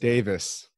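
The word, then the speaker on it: Daviess: I Jason locale Davis Davis counties is how it's pronounced Davis that David Nicholson reserve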